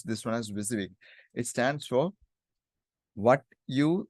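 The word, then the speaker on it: WYSIWYG: have something like it's like this viig we pronounce this one as viig it stands for what you see is what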